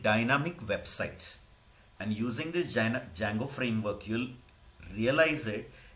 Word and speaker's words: Django: You have to call Django, don't pronounce that D, because in Romanian language D is not pronounced, but they write it. Actual pronunciation is Django.